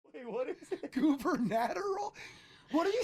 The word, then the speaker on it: gubernatorial: it's gubernatorial.